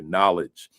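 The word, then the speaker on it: Knowlej: Knowledge. Uh K N O W L E J. Right. That's how it's spelled.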